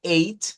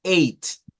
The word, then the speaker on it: eight: Note como eight, miren, basta con decir nada más una T al final. O sea, decimos eight, eight. No hay que andar haciendo algo como eight. No es necesario hacer esto como ugh. No se pronuncia, simplemente.